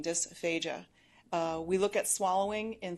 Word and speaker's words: dysphagia: There's also dysphagia, which is, or you might hear it pronounced dysphagia, but difficulty swallowing, dysphagia.